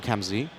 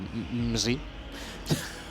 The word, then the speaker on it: Kxmzzy: But okay, so now we get to 5 points from Kxmzzy, or Kxmzzy. The K is silent. And the X is silent.